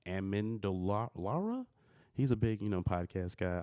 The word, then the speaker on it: Amendolara: Damon Amendola, I can't say his name, Amendolara.